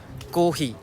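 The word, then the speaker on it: コーヒー: No, so ang nihunggo sa kape guys is kohi. So depende siya sa pag-pronounce nimo, pwede siya kohi. Basta na siya prolong kohi or kohi.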